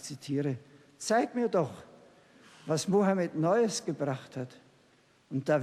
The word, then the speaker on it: Mohammed: articulation belle scansion et il dit Mohammed c'est il prononce tout à fait à l'arabe je ne sais pas comment on prononce mahomé ce qu'on ce qu'on a l'habitude d'appeler mahomé en français mais la prononciation est parfaitement arabe je sais pas s'il